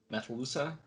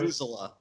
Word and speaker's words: Methuselah: Methalusa? Did I say that right? Methuselah. Methuselah. Shut up. Katie's not here. I thought that was like the general accepted pronunciation of it, actually.